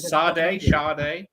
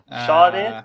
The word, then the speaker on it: Sade: How do you pronounce it? Sade. Okay. Sade, yeah, it's one of them.